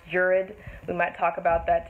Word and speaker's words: Gerard: starring morgan freeman nick nolte and of course gerard which is actually pronounced jurid we might talk about that today in the